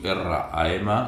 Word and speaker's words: Ram: Connectes amb el tercer centre d'energia, Manipura Chakra, element foc, la generositat, i la seva vibració s'escriu R-A-M, la R es pronuncia com una R sorda, 3 vegades, RAM, mentalment, RAM, RAM, mentalment.